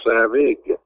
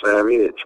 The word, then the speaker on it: Savage: Well, actually, the last name is pronounced Savig, not Savage, but yeah, it's happened 1,000 times, so.